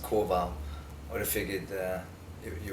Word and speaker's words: Kowal: hathon California and we're here with uh cow how are you it's uh actually pronounced Koval I have figured uh you would know that